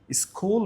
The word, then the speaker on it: school: Language স্কুল এখানে মৌলি স্কুল বলেছে বাট এখানে হবে স্কুল স এবং ক পাশাপাশি আসলে সেটা খ এর মত উচ্চারণ হয় না। ক এর মত উচ্চারণ হয়।